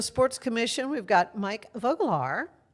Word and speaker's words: Vogelaar: Joining me Hayes with Unbound Now Waco and with the Waco Sports Commission, we've got Mike Voglar.